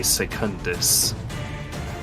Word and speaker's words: secundus: her Primus Palace once again to summon a secundus probably mispronounced that but it's funny no you actually